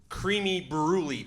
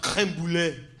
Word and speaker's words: crème brûlée: I'm like, yeah, I'll get the creamy brulee, please. He corrected me. He's like, actually, it's pronounced crème brûlée.